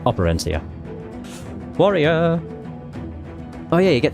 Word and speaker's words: Operencia: I'm also realising that the game is pronounced Operencia, but I'm probably going to call it Operencia.